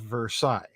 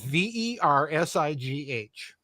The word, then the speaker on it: Versailles: The first question was, list 5 significant provisions of the Treaty of Versailles. Okay. Versailles. Versailles. Okay. Mhm. I get an answer back from a student where Versailles is spelled Versigh.